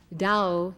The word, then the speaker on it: Tao: key to our immortality dow in chinese which as you know is spelled t a o dow means road way